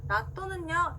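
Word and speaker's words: 納豆: 자, 나또는요, 일본어로 해도 나또 그대로인데요. 자, 타행 앞에 왔기 때문에 시옷 받침으로 해주시는 거 주의하면서 같이 한번 따라해 볼게요.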